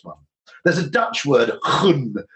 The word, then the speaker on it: gun: There's a Dutch word, gun, which I think is spelled G-U-N, but pronounced obviously with a large amount of spittle because it's Dutch, which conveys that, which